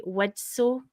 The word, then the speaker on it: Widtsoe: Widtsoe. And I can never pronounce his name. There's a T in there somewhere, and my mouth just will not accept it.